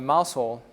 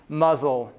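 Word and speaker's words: Mousehole: city that town that you would think is called mouse hole right but in and Cornwall everything is slightly named different like it's pronounced differently than written so this is actually muzzle so at first I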